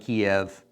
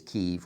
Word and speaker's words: Kyiv: When I was growing up, they called it Kiev, but I do think the correct pronunciation is Kyiv, or at least the very best we can do in our English, trying to speak Ukrainian.